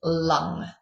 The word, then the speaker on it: lung: Um the mantra for that is lung. Lung. Okay. L um as in L u N G.